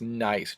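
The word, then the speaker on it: gneiss: this one right here hard to pronounce hard to spell sometimes it's nice g n e i s s and one of the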